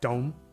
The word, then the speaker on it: don't: But we say more like dome.